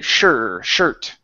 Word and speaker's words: shirt: the word shirt okay this is an important one to pronounce that R because if you don't it comes out as a cuss word okay so we want to say sure shirt sh good one more